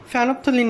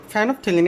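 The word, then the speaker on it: ফেনলফথ্যালিন: ফ্যানফথলিন এই যে একটু দেখো, উচ্চারণটা কি? ফ্যানফথলিন, ফেনল বানান উচ্চারণ তো আমরা করতে পারি। উচ্চারণটা কি? ফেনল, তারপর ফেনলথেলিন। ওকে, থেলিন, ফ্যানফথেলিন। ওকে, তোমাদের জিনিসটা কিন্তু উচ্চারণটা অনেকেই ভুল করবা। এটা কি নাম? ফেনল। তোমরা ফেনলের নাম জানো, পরে থেলিন উচ্চারণ করতে পারবা, মাঝখানে একটা দিয়ে দিবা, ফ্যানফথেলিন।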